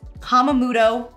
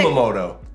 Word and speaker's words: Kumamoto: We had an oyster shucker girl who walked around serving fresh West Coast Kamamoto. Is that how you say it? Oysters with all the Kumamoto.